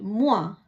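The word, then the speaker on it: moi: எம் ஓ இ, முவா, நான்.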